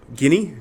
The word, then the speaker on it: Guinea: I think it's isn't it the Gulf of Guinea G is it Guana or guinea guinea that's how you pronounce it I think it's golf of guinea